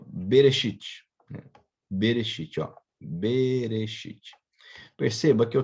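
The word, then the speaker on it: בראשית: pegar exemplo aqui como lá trouxe aqui ó bereshit bereshit bereche perceba que eu tenho aqui A Bê é uma sílaba Tá quem eu tenho aqui ó esse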